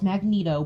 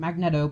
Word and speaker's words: Magneto: but honestly I don't care I know it's magneto but I pronounce it magnetic because look at the weights spell that's clearly